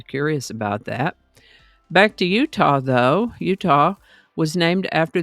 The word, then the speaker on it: Utah: Spanish explorers came along they simply pronounced it as UTA and that pronunciation evolved to the current pronunciation Utah this is the birthday